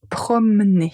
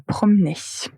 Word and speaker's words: promener: Donc se promener, vous voyez la première lettre E, on ne la prononce pas. J'aime me promener. J'aime me promener.